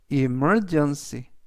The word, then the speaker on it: emergency: 뜻이 되겠습니다 이번 단어는 emergency emergency emergency라고 발음하시면 되겠고요 이때 강세는 m 뒤에 있는 이의 강세가 있습니다 그래서 emergency라고 발음하시면 되겠고요